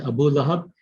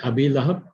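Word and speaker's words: أبي لهب: So it is not Abu Lahab, it's going to be Abi Lahab.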